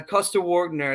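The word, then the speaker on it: Coster-Waldau: Like he Morgan was in a movie with Jessica Chastain, Nikolai uh Costa Wner, that's how you say his name.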